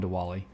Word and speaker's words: Diwali: I was born on Diwali. Some call it Deepavali. Just depends on, I don't speak Hindi, so I can't really pronounce it correctly, but I've heard it pronounced both ways.